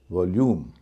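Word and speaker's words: volume: की ध्वनि है जो जो चार में है उच्चारण होना चाहिए उ या उ का हो रहा है य वॉल्यूम इर सेल्यूलर सेल्यूलर में भी य से पहले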